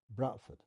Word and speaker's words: Bradford: in Bradford everybody said Bradford that is the correct dialect way of pronouncing this name and it's interesting I